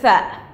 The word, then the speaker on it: ث: It's like, it sounds like three, through, like this sound, so in between the teeth.